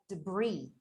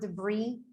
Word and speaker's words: debris: we have words like debris, okay, do you remember the word debris? Yes, that it had like this silent S, like at the end.